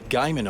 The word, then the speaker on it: Guymon: I got all French and said Gaumont, Oklahoma, when it should be Guyman, Oklahoma.